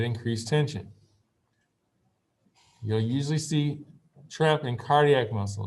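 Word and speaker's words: treppe: of twitch is a it's called trep and trep rhymes with step okay so if you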